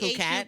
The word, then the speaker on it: Phuket: Although the party is called like Fuck It, I've been calling it Phuket.